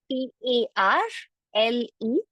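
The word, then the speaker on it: parlé: And how do we pronounce it? We pronounce it as parle. So if you see, the infinitive and the past participle has the same pronunciation here.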